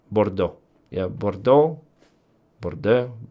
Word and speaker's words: Bordeaux: Yeah, but I understand that you always do not uh do not pro pronounce this last part if it's a so you just simply don't don't pronounce it. Bordeaux.